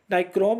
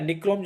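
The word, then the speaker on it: Nichrome: है निक्रोम, ठीक है, नाइक्रोम या निक्रोम जिसको बोलते हैं इंग्लिश में, हिंदी में थोड़े से स्पेलिंग का डिफरेंट हो सकता है, बाकी आंसर से कोई दिक्कत नहीं होता है। तो 55 का करेक्ट आंसर हो जाएगा आपका ऑप्शन नंबर डी, निक्रोम या नाइक्रोम बोलिए, यह इसका सही आंसर हो जाएगा।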